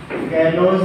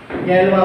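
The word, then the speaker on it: Galois: में लाया गया और इसे गैलोस ने लाया, जिसका प्रोनाउंसिएशन गैलवा प्रोनाउंसिएशन इसका किया जाता।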